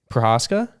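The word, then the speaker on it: Procházka: Prohaska? So that Wow, you can pronounce it perfect.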